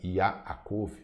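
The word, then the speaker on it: יעקב: Esse texto ele se encontra na carta de Tiago, ou de Yaakov, essa é a pronúncia original do nome, no capítulo 1, versículos 14 e 15.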